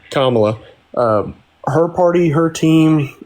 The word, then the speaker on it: Kamala: But another thing that kind of to be honest that party in particular like the is it pronounced Kamala or Kamala? Kamla. Okay. Sorry. Kamla.